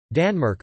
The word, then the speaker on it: tanmaurk: word Denmark in the form of accusative Tanmork, Danmark on the large stone, and genitive Tanmarkar, pronounced Danmarka on the small stone.